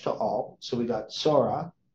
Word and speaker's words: Zorah: okay now um now when it when we deal with Ash to all so we got Sora it's actually how it's pronounced and then we have Ash to all 800 847.